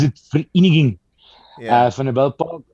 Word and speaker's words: Vereniging: Vereniging. Oh, sure. Park Okay. Sasolburg. Okay, So in the Free State. People pronounce it Vereniging.